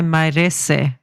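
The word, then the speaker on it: Mairesse: race is best remembered Maurice is that how you pronounce it Maurice I would say mares but mar mar yes yeah it sounds like an Italian name maresa in the Ferrari and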